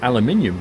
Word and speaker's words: aluminium: Americans say aluminum correctly. They do, because they spell it as aluminum. However, in Britain we don't spell it as aluminum, we spell it as aluminium, so we say it correctly too. In that particular case, that's not a pronunciation problem, that's a spelling difference. Aluminum and aluminium are spelt and said differently.